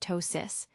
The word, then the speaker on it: ptosis: A drooping eyelid on one side, medically referred to as ptosis, pronounced tosis, can occur when an aneurysm places pressure on a nerve responsible for eyelid movement.